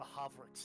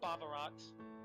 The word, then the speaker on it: Bavarox: Wait, The Havrix Nerexius. Or Havrix, if the B is silent. No, it is Bavarox.